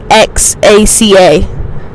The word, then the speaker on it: Oaxaca: If you know how to say it, it's Oaxaca. Oaxaca.